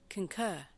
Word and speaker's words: concur: Concur. R is silent. Concur.